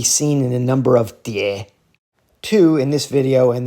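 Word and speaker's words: 蝶: They are pronounced die, second tone.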